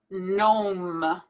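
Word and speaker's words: gnome: no another word where we don't pronounce the first g nom nom cornstarch now i particularly included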